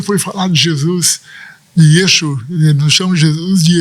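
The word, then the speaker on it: ישוע: Só aqueles que são mais estudiosos aqui, mas para eles o nome de Jesus é Yeshua.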